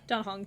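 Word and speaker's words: Dan Heng: I know, but you pronounce it Don Hong. Does E make that noise in... In Chinese it does.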